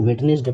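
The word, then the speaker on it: Wednesday: पाए every वेडनेसडे बेटा कुछ लोग बच्चे इसको वेडनेसडे पढ़ते हैं ये राउंड वेडनेसडे पढ़ने से सुनाता है ये होगा वेडनेसडे डे is silent here every वेडनेसडे the magazine would come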